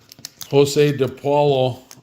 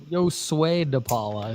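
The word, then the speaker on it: Josué DePaula: Then I got 2 Jose DePaulo Lunar cards. Josue DePaula is how you would say.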